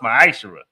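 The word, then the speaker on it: מעשר: Means 10th in the Hebrew and is pronounced ma'ashera.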